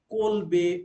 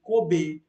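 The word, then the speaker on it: Kolbe: compound uh it was synthesized by colby or sometimes people pronounce it as a kobe uh okay so that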